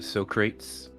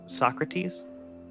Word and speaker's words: Socrates: Are they the Socrates? I don't know. I don't know. Socrates.